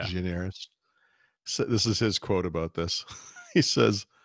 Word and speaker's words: Gianaris: Gianaris. it's a Greek name, Paul. You got to add the accent to Gianaris. it. Yeah, Gianaris.